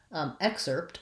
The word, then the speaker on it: excerpt: there versus accept um excerpt excuse me has again the ks and first syllable stress but you'll notice the spelling here i have the r so that's the difference is that instead of an e vowel i have the er sound and so for excerpt